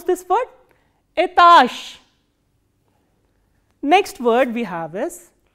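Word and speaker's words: этаж: must be knowing that when a voiced consonant comes in the end, it is pronounced as its voiceless counterpart. So, what is the voiceless counterpart of j? It is sh.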